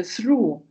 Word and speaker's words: through: Through. Вот это GH не читается.